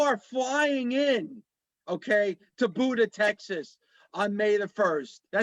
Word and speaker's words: Buda: that anybody people are flying in, okay, to Buda, Texas, on May the 1st. Is that how you say it? Buda, Texas? Am I saying it right? Yeah, Yes, Buda, Texas.